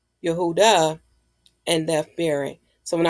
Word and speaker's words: Yehuda: y h w d which is which is pronounced as Yehuda for we know Judah is the um his